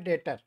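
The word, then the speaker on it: debtor: और जो विपक्षी पक्ष का डिफेंडेंट है उसका नाम हो जाता है जजमेंट डेटर, निर्णित ऋणी। निर्णित ऋणी, जजमेंट डेटर। कैपिटल मत बोलिएगा, बी साइलेंट रहता है।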